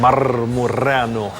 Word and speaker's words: Marmureanu: They don't really pronounce it, they ask me all the time how to pronounce it and I tell them "roll the r" because they can't pronounce the "rrr" in Marmureanu, they call me Doctor.